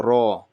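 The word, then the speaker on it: ر: What we're looking at for this Ra is when you say better or butter, that R at the end, its R is kind of like flapping. So that R, Ra, it's that Ra. If there are any Spanish speakers here, then it's like a ray, it's that in Spanish.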